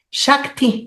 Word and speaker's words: Shakti: muy cómodo Muchas gracias Cómo se dice tu nombre realmente shakti con k Ah shakti Ah mira qué nombre